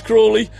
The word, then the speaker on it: Crawley: His mum's already texted me about getting his name wrong. It's Crawley.